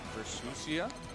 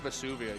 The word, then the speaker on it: Versusia: Versusia. There we go. I keep pronouncing your name Vuvia. You know, I keep thinking of that volcano in Vuvius.